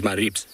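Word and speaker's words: Maribye: to say it is maribs which basically is m a r i b s is how you pronounce it but it is spelt m a r i b y e so we now dub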